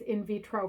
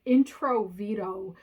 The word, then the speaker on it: in vitro: floor of the house he didn't even pronounce it right he called it introvedo fertilization he doesn't even know